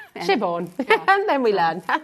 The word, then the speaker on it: Siobhan: Shivon.